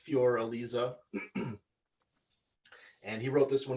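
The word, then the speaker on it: Für Elise: beethoven um fur elise or in german it's fjor elisa and he wrote this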